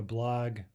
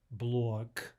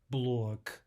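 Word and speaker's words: блог: And finally, a blog, blog, would be incorrect, right? G. We want the devoiced blog, k, k, k, blog.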